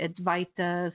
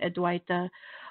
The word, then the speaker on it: Advaita: go into that and add white fight the practice some people pronounce it advice some pronounce it ed white de but it's it's very